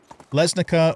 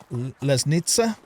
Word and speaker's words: Lesnica: Also heard that the pronunciation for, you know, a lot of the cities like Dinica is actually supposed to be Denitsa. So we got Dinica or Denitsa. We have Lesnica or Lesnitsa.